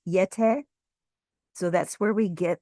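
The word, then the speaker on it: Yeh-teh: And the word Yeti is actually derived from the Tibetan word Yete, which is spelled Y-E-H hyphen T-E-H, Yete.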